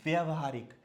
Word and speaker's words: व्यावहारिक: अब ये है व्यवहारिक, तो ये व्यवहारिक नहीं व्यवहारिक होता है। क्या होता है? व्यवहारिक। व्यावहारिक, व्यवहारिक। ये क है।